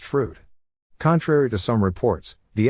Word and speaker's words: Froude: Completion of all 3 works in the Super Victorian Head Charge qualifies you automatically for membership in the exclusive Froude Society, pronounced Froude.